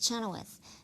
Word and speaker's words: Chenoweth: no I'm not going to change it it's Chenoweth and people are going to learn how to